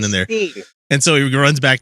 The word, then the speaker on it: Berenstain: So how do you guys spell the Berenstain Bears?